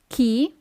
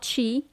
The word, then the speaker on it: chi: Chi? Not chi.